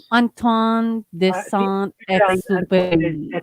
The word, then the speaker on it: Antoine de Saint-Exupéry: Antoine de Saint-Exupéry. Parang ganun. Exupéry. Oo. Parang ganun. And And Antoine de Saint-Exupéry.